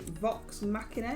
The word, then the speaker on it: Vox Machina: We have just finished watching, is it Vox Machina?